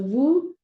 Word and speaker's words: vous: So vous, the S is silent, vous avez, you hear it as a Z.